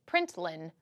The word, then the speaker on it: println: dot println and then we pronounce it print line' then you have a